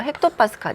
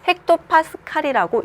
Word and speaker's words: 헥토파스칼: 할게요 자 기압의 단위는 헥토파스칼 있니다 소문자 h 대문자 p 소문자의 핵토파스칼이라고 읽습니다 자 기압을 표현을 할